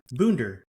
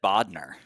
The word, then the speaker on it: Boender: Adam Bunder. B O E N D E R. I've always pronounced your name. I've said Bodner. Yeah, you know, I get bender, bowender, and then if you